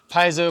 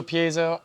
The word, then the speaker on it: Piezo: proper pronunciation for Piezo ah paiso Piezo I say Piezo and it's probably like pietzso but so you know